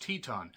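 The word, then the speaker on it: Titán: accuse me of that it's Titan but it's spelled or it's pronounced Teton I'm sorry I'm sorry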